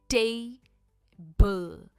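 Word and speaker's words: table: पर इसकी प्रोन्सिएशन है टेबल। यह टेबल नहीं है। यह है टेबल। टे पर इसका स्ट्रेस है।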